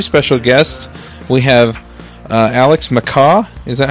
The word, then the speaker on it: MacCaw: We have Alex McCaw.